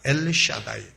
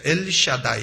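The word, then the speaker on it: אֵל שַׁדַּי: 하나님으로 전능의 하나님으로 나타났다 전능의 하나님은 히브리어로 엘샤다이 있니다 엘샤다이 우리 한번 옆에 계신 분하고 발음해 보시죠 엘샤다이 엘샤다이 하나님의 이름은 오늘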